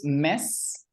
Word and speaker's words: Ms.: Entonces tú pronuncias como mes en español, mes, pero la última es una Z.